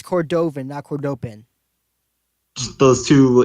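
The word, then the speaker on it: Cordovin: we establish this with gold star but it's cordovan awkward open just those two idiot guards pronounced no they did it we misunderstood last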